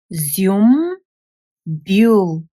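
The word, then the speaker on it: зюмбюл: Z, U, M, Zium, B, U, L, Bule. Zium, Bule. Ziumbule is a very beautiful, fragrant flower, which is hyacinth.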